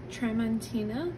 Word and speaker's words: Tramontina: the all-in-one plus pan by trantina I believe is how you pronounce the brand name so this is a